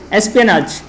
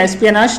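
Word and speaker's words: espionage: आज का दूसरा वर्ड क्या है, एस्पियनाज। एस्पियनाज या एस्पियनाज दोनों इसके प्रोनाउंसिएशन है।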